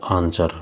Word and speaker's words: answer: Next question is which is the silent letter in the word आंसर। आंसर शब्द में कौन सा मूक अक्षर है। तो आंसर शब्द में जो मूक अक्षर है वो है हमारा W।